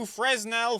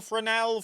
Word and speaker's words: Fresnel: single LCD display and two fresnell frenel fresnel however you want to pronounce it lenses the ring you'll